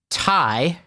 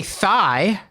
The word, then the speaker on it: Thai: with back then where he would mispronounce Tai which anybody who's been in New Haven was some great Thai restaurants in in the City of New Haven but he would say thigh and he would purposely